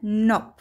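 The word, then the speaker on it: knob: هنا لدينا كلمات بدأت بحرف الك ثم حرف الان، إذن حرف الك لا يلفظ فقط يكتب وتلفظ ن ن، مثل كلمة نوب نوب وتعني مقبض الباب، نوك نوك وتعني يطرق الباب، ني ني وتعني الركبة، نايف نايف وتعني السكين.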